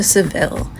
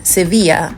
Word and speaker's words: Sevilla: we took the train from Malaga to sevil and arrived within 3 hours sevil or seevilla as it's pronounced in Spanish is an absolutely gorgeous City